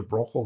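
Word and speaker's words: Bruegel: Finally, let's look at someone who has been considered similar to Bosch, Peter Brochel the Elder, trying my best Dutch pronunciation. Bosch passed away about a decade before Brochel was born, and many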